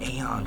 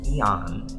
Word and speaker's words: Eon: Shout out to Eon, because I was saying Aeon for the longest, and then I come to find out you're mispronouncing his name. It's Trevor Eon.